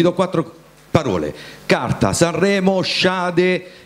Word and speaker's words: Shade: Sai che a fare freestyle io sono un campione, ti dico che si dice Shade, questo è il mio nome, perché quando faccio freestyle